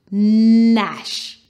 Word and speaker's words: gnash: ash flash ash nash now in this word the g is silent so ash slash sm